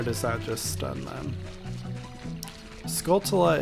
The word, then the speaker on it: Skulltula: that just stun them Skulltula is another word that I pronounce very differently as a child I think I said sculptula like a t c h action going on sculptula so I haven't fully